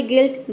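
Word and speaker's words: guilt: जैसे कि देखिए यहाँ पे गिल्ट, गिल्ट में देख सकते हैं कि डबल कॉन्सोनेंट आया है, ठीक है, एल और टी, इसके बाद कॉन्सोनेंट प्लस ई नहीं आया है, इसलिए हम यहाँ पे यू आई को ई प्रोनाउंस कर रहे हैं।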